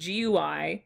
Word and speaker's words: GUI: have a GUI offset apparently that's how it's pronounced GUI sensor graphic user interface so this and this